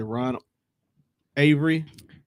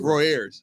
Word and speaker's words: Roy Ayers: And then Ron, what is it, Ron Avery?